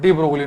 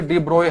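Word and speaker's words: de Broglie: प्रकृति यह बताया हमें डी ब्रोगली ने डी ब्रोगली हालांकि सही प्रोनंसिएशन इसकी डी ब्रॉय है डी ब्रॉय इसमें जी एल वगैरह साइलेंट है पर हिंदी में डी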